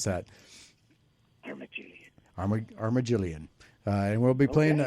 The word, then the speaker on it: Armagelion: might be interested in uh the band uh Arma Jillian you don't even want to know how long it took me to try and pronounce that thank you armagillian uh and we'll be playing we'll be debuting